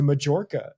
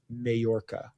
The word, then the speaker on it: Majorca: I said she went to Majorca, and I have a Scottish friend who was like, it's Majorca.